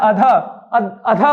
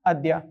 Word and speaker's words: अद्य: क्या नीचे लग गया य अद्य होता है है ना ये ध्यान रखेंगे यहां अधा नहीं है यह अधा अधा पढ़ देते हैं बच्चे अशुद्ध है अद्य पढ़ना चाहिए क्या उच्चारण करना अद्य चलिए अब अगले प्रश्न